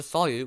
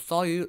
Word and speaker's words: solute: This is how you remember that in a solution, the solute, which rhymes with root, is rooted in or dissolved in the solvent.